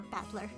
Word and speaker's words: Battler: my own name is made up by the characters for fight and person and it's pronounced or battler it's all together you